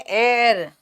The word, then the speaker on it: heir: हेयर, हियर, हाँ, हियर, हेयर। बेटा इसका प्रोनाउंसिएशन है एयर, HEIR को बोलते हैं एयर, हियर नहीं बोलते उत्तराधिकारी को।